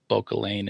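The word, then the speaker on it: Bauchelain: So it's B A U C H E L A I N Bokealain and Coral Brooch.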